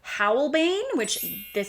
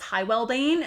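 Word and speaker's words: Hywelbane: We have Howlbane, that is not, I called this Hywellbane until I heard it pronounced correctly.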